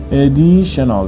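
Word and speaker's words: additional: لغت بعدی ادیشنال ادیشنال ادیشنال ببینید الان اینجا دوباره تی آی او ان رو داریم که ما باید ش تلفظش بکنیم ادیشنال یعنی زائد به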